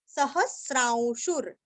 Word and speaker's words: सहस्रांशुर: आघात अविज्ञाता सहस्रांशु अभी स्रा के ऊपर जो अनुस्वार है ना उसका उच्चारण औ के जैसे करना है औ सहस्रांशुर आगे का जो वी के ऊपर जो रफार है वो हमें शु को रस्व शु को जोड़ के लेना है शुर सहस्रांशुर सहस्रांशुर विधाता वीरस्व अभी